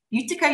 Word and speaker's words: Utica: He received his master's in occupational therapy from Utica University. Is that how you pronounce it?